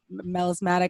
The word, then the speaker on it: Melismatic: And your record, by the way, the new record, Melismatic, I think that's how you say it. Mm-hmm. Yes. Absolutely.